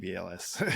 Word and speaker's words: EVLS: EVLS? It's not Evils? I've heard some people say Evils, but no, I call it EVLS.